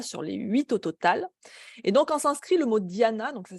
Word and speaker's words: Dhyana: Donc c'est le 7e membre du yoga sur les hinscrit le mot Diana, donc ça s'écrit D H y A N A.